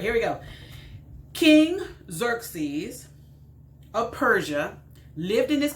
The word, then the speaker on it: Xerxes: ah not really hilarious but let's just learn xerxes okay xerxes xerxes that's how it's hanging how you pronounce that word xerxes all right so uh